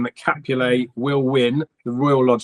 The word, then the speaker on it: Capulet: It's Capulet. It's Romeo and Juliet. It's the Montagues and the Capulets. And when I was at school, it was Capulet.